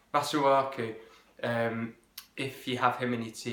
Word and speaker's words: Masuaku: Likewise, maybe what you might like to do with Makazaku. I always say that name wrong. Masuaku.